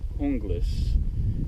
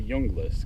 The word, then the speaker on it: Junglas: it's spelled j u n g l s pronounced hungus being Viking inclined I keep want to call it the junglist cuz Jays are wise but we're not going